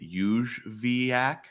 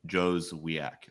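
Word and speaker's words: Jóźwiak: I think his name is technically Juzviak. Juzviak. Kamil Juzviak. But pretty much everyone's calling him Jozwiak or Jozviak.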